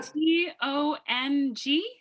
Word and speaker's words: tongue: T-O-N-G? Now say it. That's it. Tongue? Right? Tongue. There you go. You got it. But they said pronounce tongue. But tongue, I believe it's like tong, like kitchen tongs.